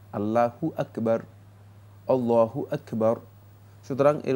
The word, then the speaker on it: আল্লাহু আকবার: বলে থাকি দম্মালা আরবিতে হা এর উপর পেশ রয়েছে এই পেশটাকে উচ্চারণ করতে হবে আল্লাহু সুতরাং আল্লাহ আকবার মানে